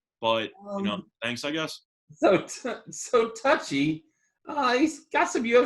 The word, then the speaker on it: Touchy: Yes, it's touchy. It's just touchy. It's touchy? It's not touche. It's just touchy.